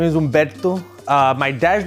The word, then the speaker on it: Humberto: But you don't roll your R's either when you say Humberto, right? Humberto, that's too much, right?